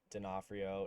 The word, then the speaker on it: Donofrio: caption but yeah so my last name is dinofrio it's pronounced that way um all my handles though